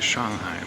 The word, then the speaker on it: Shanghai: I want to say Shanghai because Shanghai is how it's pronounced in Chinese I'm sitting here in